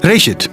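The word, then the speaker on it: בראשית: gênesis gênesis vem de uma palavra Hebraica que é pronunciada reit e significa simplesmente início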